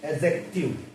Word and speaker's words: adjective: अब देखिए, अब तक आप कहते आ रहे थे इसको एडजेक्टिव, लेकिन इसमें जब आप डी को साइलेंट करके प्रोनाउंस करोगे, दिस इज एडजेक्टिव।